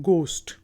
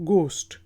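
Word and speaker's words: ghost: बाद वर्ड है जी जी एच ओ एसटीडी घोस्ट कि गोष्ट गोष्ट रुको भूत को कहा जाता है गोश्त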